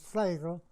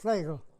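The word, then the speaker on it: Flegel: My second name is Flagel. It's spelled like Flagel, but in the dramatic language, E is like an A. So that's why F-L-E-G-E-L is pronounced Flagel.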